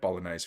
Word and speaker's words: Bolognese: But then my missus was like, you don't pronounce the G.